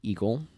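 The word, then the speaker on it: Egil: We need to go talk to Eagle. At least that's how I pronounce E-G-I-L.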